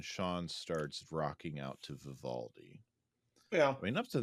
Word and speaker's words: Vivaldi: And on CD is Vivaldi. Is that how you say it? Vivaldi, yes.